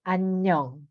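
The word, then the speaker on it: 안녕: Like anyong, right?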